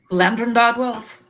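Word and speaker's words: Llandrindod Wells: Landrindod Wells? Yeah, Landrindod Wells.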